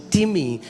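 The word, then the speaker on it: τιμή: It's the spelling is like time, T-I-M-E, but it's pronounced as timi and it means heavy.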